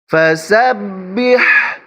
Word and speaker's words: فسبح: ফাসাব্বিহ, বিহ এখানে বড় হা, এটা হচ্ছে হা, এটা হচ্ছে হা, এজন্য এখানে বড় হা উচ্চারণ করবেন। যদি ছোট হা উচ্চারণ করেন তাহলে কিন্তু হবে না।